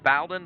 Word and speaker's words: Baldwin: always screwed that up i've caught him bowdoin but it's jojo baldwin the 444 from lockport